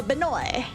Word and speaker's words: Benoit: Is it Benoit or Benoy? The T is a T. Do I pronounce a T or not pronounce a T? French name. So, Benoy, no T. That's right. Okay, hold on.